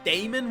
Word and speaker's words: daemon: which I usually pronounce with the EA, like as Damon rather than Demon, even though I'm aware the correct pronunciation is still just Demon.